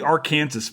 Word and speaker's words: Arkansas: because the the uh the Arkansas River which they pronounce is the Aransas by the way um in the great state of Kansas I know I know